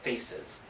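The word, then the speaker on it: PHACES: Main reason being, when it's spread out that large, they're afraid of what's called faces. I forget exactly what it stands for, but it's spelled P-H-A-C-E, and then sometimes with an S, depending on if that particular syndrome is part of it.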